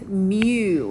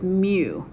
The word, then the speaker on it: mu: new little creature here it's mu is how you say that so that scripty looking m you say is mu it just says the